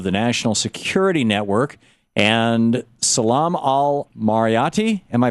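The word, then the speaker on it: Salam Al-Marayati: And Salam Al-Marayti, am I pronouncing that right, Salam?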